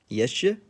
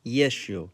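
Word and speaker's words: ещё: How do you think it's pronounced? Yeshe? Nope. Try yeshu.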